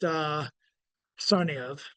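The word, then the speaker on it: Tsarnaev: The name of the brothers are pronounced Sarniev, and the brother I'm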